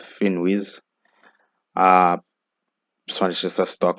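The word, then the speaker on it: Finviz: the next one is finwiz uh it has a v but it's it's pronounced finwiz uh so just a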